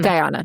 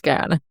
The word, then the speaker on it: Guyana: Is it pronounced Guyana? Guyana. Thank you. Because the whole time I was studying, I was like, I feel like it's Guyana, but anyway. Mhm. It's Guyana.